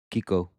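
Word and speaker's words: Kokko: For me in this one, Seattle's going to have that new goalie, Coco. I think that's how you say it. Kiko, however you want to say it. K-O-K-K-O.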